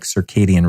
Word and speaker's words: Circadia: That's Circadia like circadian rhythm, spelled with a C.